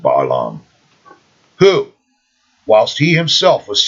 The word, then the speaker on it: Balaam: that of pope's sir some of you guys call him balaam okay i pronounce it baalam who whilst he himself